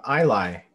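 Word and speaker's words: Ilay: their name michael uh i lie um so it's uh i-l-a-y um kind of taking inspiration uh it's not pronounced the same but the letters are kind of close or similar um we the name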